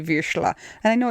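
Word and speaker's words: Vizsla: just because you say visha and I know it's cuz it's like German visha yeah like like it's spelled v i z s l a visha okay I just think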